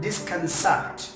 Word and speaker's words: disconcert: Number 1, disconcert. Disconcert. In American accent, the letter R will be pronounced a little disconcerted, but in British accent, letter R will not be pronounced like disconcert.